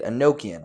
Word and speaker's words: Enochian: Enochian.